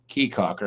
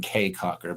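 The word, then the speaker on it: Caye Caulker: Keycocker. I keep saying kcocker, but I'm told it's pronounced keycocker, but it's spelled c a ye,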